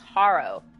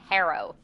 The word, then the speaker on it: Harrow: Locked Tomb series, and I pronounce one character's name as Haro. And someone left a comment being like, that's interesting that that's how you pronounce that, because I always pronounce it as Harrow. Like, but I guess it's just like, regional dialects, because like I would say something's harrowing rather than something's harrowing, but both I think are technically correct.